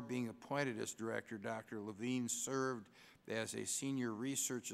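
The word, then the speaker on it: La Vigne: Nancy C LaVine and I probably mispronounced it it's LaVine LaVine okay is director of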